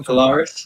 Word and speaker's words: Polaris: or proudest proles product i always say that name wrong but you know polaris polaris but yeah i like this like this